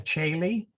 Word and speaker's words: Caeli: The OE, as I said, is just the same as the AE. They are exactly the same. So you may have seen like the words Regina Caeli, spelled C-O-E-L-I for Caeli and C-A-E-L-I for Caeli.